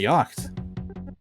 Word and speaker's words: yacht: I always assumed that he was living it up in the big city, or in some sort of yacht. Yacht, rather. There's no C in yacht.